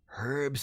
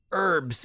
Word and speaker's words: herbs: Now, there is only herbs and spices. Or herbs and spices, depending on where you're from, if you don't pronounce the H in herbs or the S in spices.